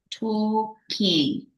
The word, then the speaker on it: talking: We're not pronouncing the L, okay? We're not saying talking, okay? No. Okay, Talking, teacher. okay? Talking. Sin la L.